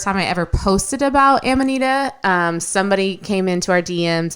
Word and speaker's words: Amanita: Amanita? Am I saying that right? I mean, that's the way we say it. Okay. Some people say Amanita. Some people say Amanita.